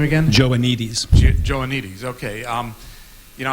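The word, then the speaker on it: Joannides: you're going over uh George how do you pronounce his last name again joanes joanes okay um you know I studied a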